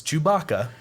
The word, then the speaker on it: Chewbacca: do you say the name again George its Chewbacca you all right you Becca Billy all right